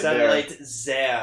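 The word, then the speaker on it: Zi-A: Oh, I thought it was Zia. That's what we all thought, but apparently it's Satellite Zia.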